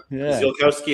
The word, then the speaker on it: Ziolkowski: Zilkowski is how I pronounce it. Zilkowski. Zilowski.